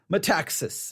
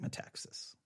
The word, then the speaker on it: Metaxas: Letter to the American Church by Eric Metaxas.